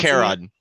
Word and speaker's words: Charon: Yeah, the moon, like the boatman on the river Styx. Like it's a Greek whichever. hard K sound.